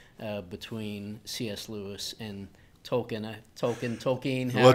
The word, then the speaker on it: Tolkien: Tolkien. Well, Tolkien is how the Brits pronounce it. I used to pronounce Tolkien, but now because it's actually, they say Tolkien.